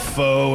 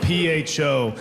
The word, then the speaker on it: pho: It's spelled P-H-O, and people are like, it's pronounced pho, and they get all upset.